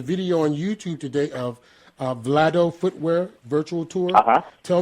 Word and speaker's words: Vlado: First off, and I'm sorry, could you pronounce that again? It's Vlado Footwear? Vlado, yeah.